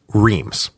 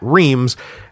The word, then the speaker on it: Reims: the cathedral at and I'm just gonna say it like this Reims don't at me about the pronunciation I know it's like Ross or something but I can't make my mouth say it so don't make me say it I'm just gonna